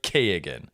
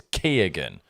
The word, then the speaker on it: Keoghan: Barry Keoghan. Yeah, let's talk about it. It annoys me that you don't pronounce it Keoghan. Yeah. But I've read recently the G is pronounced. Yeah. Therefore it's Keoghan.